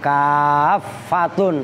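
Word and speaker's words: كافّة: Bahkan itu in tambahan kafatun, tasdid fa-nya.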